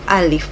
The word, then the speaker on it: Alive: Tito memiliki anak perempuan bernama live atau Alif bacanya Ya tulisannya alive gitu mungkin bacanya alif-ya dan si Alif ini